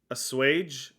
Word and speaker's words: assuage: how do you say that a-s-s-u-a-g-e a sewage a swage yeah that should assuage your fears all right